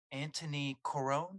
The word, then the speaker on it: Antoni Corone: have a guest with me today I have Anthony Caron am I pronouncing that correctly you are ding ding ding